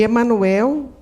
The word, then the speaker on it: Emanuel: que é Emanuel e Emanuel com oxito né a sílaba forte no El é a maneira Portuguesa de dizer Emanuel Emanuel que quer dizer